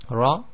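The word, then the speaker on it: ر: So the Ra is pronounced by taking literally the underneath of the very tip of your tongue and touching it to the front hard palate in your mouth.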